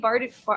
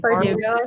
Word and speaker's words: Bardugo: where it's like almost like, I guess, Lee Bardugo. Oh my gosh, how do you pronounce her last name? Bardugo, I think.